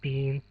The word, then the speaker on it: Digne: But since the start of the month, we have added to the squad, brought in Lucas Digne, or Dean as it's pronounced, from Barcelona.